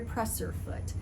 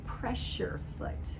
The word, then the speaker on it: presser foot: foot so presser foot a lot of people will call it a pressure foot because it's putting pressure on your fabric as you feed it through the sewing machine but actually it's called